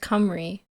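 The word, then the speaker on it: Cymru: Simu pronounced camry. See, like that doesn't make sense.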